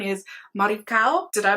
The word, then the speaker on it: Maricao: The Spanish pronunciation is Maricao.